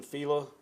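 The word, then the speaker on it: Filla: My name is Fila. It's spelled.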